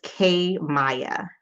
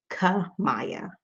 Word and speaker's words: Kamaya: It's K Maya. Beautiful. Thank you for correcting me. K Maya, actually. No, and I still said it wrong. Ka Maya. Ka Maya, right?